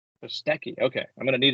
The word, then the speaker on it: Kostecki: Brody Kostecki. Kostecki.